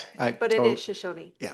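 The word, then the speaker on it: Shoshone: Um and I our chair has just explained the proper pronunciation our cultural appropriation. Yes. Yes. But it is Shashony.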